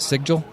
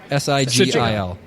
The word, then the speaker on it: sigil: use to power the sig jewel that's what how you pronounce it sigil s-i-g-i-l yeah sigil so that's the symbol